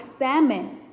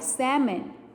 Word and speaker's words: salmon: but i don't like salmon okay so the l in salmon is silent i like shrimp but i don't like salmon good job dora likes